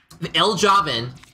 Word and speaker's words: Ljovynn: Okay, so if Ljovynn, that's how you pronounce his name, or Ljovynn, if Ljovynn